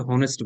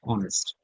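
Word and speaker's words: honest: নির্ভরযোগ্য রিলায়ে আন্তরিক অনেস্ট অনেকে অনেস্ট বলে উচ্চারণ হবে না হবে অনেস্ট ফ্লেক্সিবল ইনফ্লেক্সিবল নমনীয় িংসুটে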